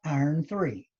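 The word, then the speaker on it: iron(III): now iron plus 3 is written as iron with a Roman numeral three and is pronounced iron three so if I've got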